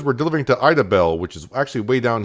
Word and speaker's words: Idabel: The end of the route should be kind of interesting, but we are going down to Idabel. That's the way I'm going to pronounce it.